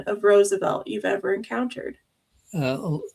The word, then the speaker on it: Roosevelt: So, what's the most egregious mispronunciation of Roosevelt you've ever encountered? Uh there are people that say Roosevelt, which is not even close. Uh most people say Roosevelt is two syllables, uh which I did